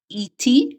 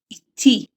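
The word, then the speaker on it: איטי: It is not E.T. where the syllable stressing is at the beginning. It's E.T. The syllable stressing is at the end.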